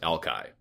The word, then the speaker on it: Alki: little while and Alki has later been anglicized is now pronounced Alki and that's where we